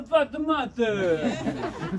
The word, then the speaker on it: Fatimata: Imagine an Italian chef is like, hey, pasta di Fatimata. That's one way to remember it.